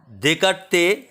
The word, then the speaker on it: Descartes: দেকার্তে মূলত ডেসকার্টেজ, যা বাংলায় উচ্চারণ দেকার্তে হয়, রেনো দেকার্তে পুরো নাম।